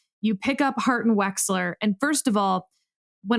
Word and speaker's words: Wechsler: your 3L year you pick up heart and wechsler and first of all when I say wechsler